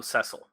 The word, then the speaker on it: Cecil: Cecil Harvey sessle carvings Cecil Cecil what it's actually pronounced sessle it's it's they gave